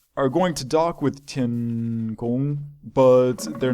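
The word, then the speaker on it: 天宫: I've heard people call it things like Tiangong before, and that is not how you pronounce Chinese. I'm not sure what tones that they are. Actually, I take that back. I'm pretty sure Tian is first tone, which means it's a straight across tone, because pretty sure that's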